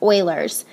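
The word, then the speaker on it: Euler: I know it looks like ulers, but it's not ulers. It's pronounced Oilers.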